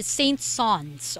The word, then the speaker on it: Saint-Saëns: composer that we have here, which is Camille Saint-Saëns or Saint-Saëns. Okay, so that is the real pronunciation of his name.